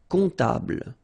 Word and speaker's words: comptable: Un comptable, so OM, remember, it goes like on, all right? And then, strangely, this P is not pronounced. Un comptable, all right?